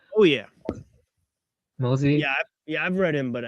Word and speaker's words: Mozi: Am I pronouncing it right? Oh yeah. Mozi.